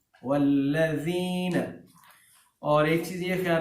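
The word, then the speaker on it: والذين: تلفظ کے اعتبار سے، یہاں زال کے مخرج کا خیال رکھنا ہے، ٹھیک ہے، یعنی اس زال کو سافٹ پڑھتے ہیں والذین، اور ایک چیز یہ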